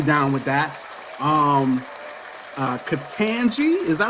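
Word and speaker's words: Ketanji: right along we down with that um uh katanji is that how you say your first name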